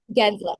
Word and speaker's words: Gensler: to even fire the SEC chair Jack Gary Gensler am I saying it right jener yeah yeah Gensler yeah that's it um yeah and he was